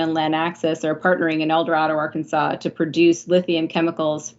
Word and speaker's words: El Dorado: It's we call it in Arkansas El Dorado. It's a little bit different than the normal pronunciation of it, but a great community that has a lot of natural resources.